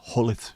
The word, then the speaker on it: Gullit: It just got pronounced Hullet when you realised it wasn't Gullet with a hard G.